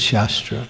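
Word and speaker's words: शास्त्र: Shastra and shastra. They're spelled the same, but the emphasis is different.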